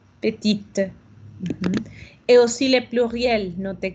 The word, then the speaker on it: petite: Ya no digo la E, pero ahora sí digo la T. Así es como sé que estoy hablando en masculino y femenino. Petit, petite.